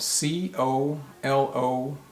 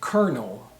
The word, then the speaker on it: colonel: high level but actually this word is pronounced kernel kernel just like another word in english that's spelled k-e-r-n-e-l kernel kernel can be